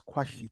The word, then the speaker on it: Kwesi: Comrade Kwesi. I hope I'm pronouncing your name well. Do you have any? It's Kwasi. Question? Yeah, Not question. yeah, it's Kwashite or in my local language.